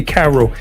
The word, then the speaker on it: Kairo: Let me ask a question just from the beginning, because you say Cairo. Yes, sir. Let's go to spell his name for me. So we spell it Kairo, not the traditional way with the C.